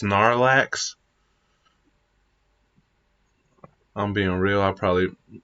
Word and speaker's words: Snorlax: you say I mispronounced Snorlax I'm being real I probably I thought it was snor relax cuz he's a sleeper so he snores and relaxes snor relax I need to say